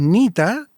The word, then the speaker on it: Neta: Y el otro proyecto o más más que prohibido que llevo ya varios años en eso, eh, es Nita, que se escribe neta, una palabra india.